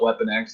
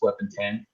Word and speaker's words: Weapon X: It's not Weapon X, it's Weapon 10. It's just, the Roman numeral for 10.